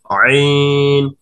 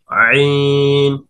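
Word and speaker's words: عين: আইন হরফের উচ্চারণের স্থান হচ্ছে গলার মাঝখান থেকে, অর্থাৎ কণ্ঠনালীর মাঝখান থেকে গলাটা একটু চিপিয়ে ধরে চাপানো ভাবে উচ্চারিত হবে আইন আইন আইন।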